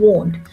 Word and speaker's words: won't: of will not ट्राई टू यूज वोंट right pronunciation is वोंट I will I वोंट okay so will is